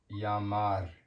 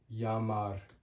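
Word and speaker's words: llamar: An example word would be Yamar, which means to call and it's spelled L A L L A M A Yamar. Yamar. This makes a Y sound. Two L's.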